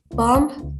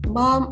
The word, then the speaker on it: bomb: For example, Indonesians speak the B and D or any other silent letter boldly in Wednesday, not Wednesday, bomb, not bomb or bomb.